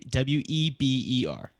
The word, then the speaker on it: Weber: Yes, but if you actually pronounced it correctly, the way it's spelled, it'd be Weber. Yeah. So is it Weber or Weber? No, it's actually Weber.